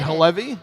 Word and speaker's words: Halevi: is what's the what's the correct way to pronounce your surname is it hevy or you did it you did it it